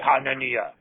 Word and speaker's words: Hanania: Hanania. Hanania. Did I say it right? Yes, you did.